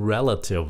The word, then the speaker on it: relative: tại vì vậy Thy cái góc của chữ relative là cái chữ relate các bạn có nghe